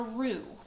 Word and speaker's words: roux: smooth paste this smooth paste is called a roux and it's spelled r-o-u-x and it's like a thickening agent